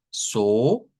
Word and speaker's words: so: So, aquí decimos so sostenido, no es solo, es so.